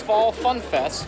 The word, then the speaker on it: Phall Phunfest: Today is the Phoenix Fall Funf Fest, spelled with PH instead of F, uh that Canobyl does every year.